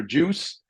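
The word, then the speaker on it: JEWCE: you haven't taken your booked your ticket for juice now the time juice.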